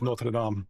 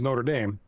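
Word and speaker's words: Notre-Dame: It's Notre Dame in France. It's a church, right? Notre Dame. That's how it's said. The university is Notre Dame, but in France, it's called Notre Dame.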